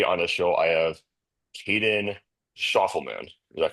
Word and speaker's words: Caden Schoffelman: Today on the show, I have Caden Schoffelman. Is that correct? Did I pronounce that correctly?